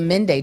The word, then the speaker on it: Mende: I'm of the Mende tribe specifically. Tribe. Yes. They can do that? Yes. We pronounce it Mande in my language.